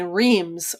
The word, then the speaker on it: Reims: defenders but like um they call the city and champagne reims r-e-i-m-s but you know in french it's yeah it's beta it's basically it's a gag sound yeah it's a grunt and then there's a great village there's